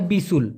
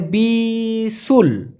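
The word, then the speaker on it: bisul: তেমান ঘোড়ার ডিমকে বলা হয় ফোরাকে বলা হয় বিসুল বি আই এস ইউ এল উচ্চারণটা হবে বিসুল বিসুল মানে ফোরা দেখুন এই পালিং শব্দ দিয়ে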